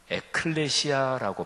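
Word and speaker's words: ἐκκλησία: 교회를 신약성경 원어 헬라어로 발음하면 에클레시아라고 발음하는데요, 하나님 나라는 바실레이아, 이렇게 발음합니다. 그래서 바실레이아, 하나님 나라는 영원해요. 근데 에클레시아, 교회는 영원하지 않습니다.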